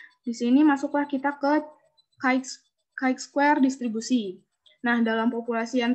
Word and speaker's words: chi-square: S, terus statistik sampel X chi kuadrat diucapkan, ini cara bacanya chi-square, memiliki distribusi sampel yang disebut distribusi chi-square.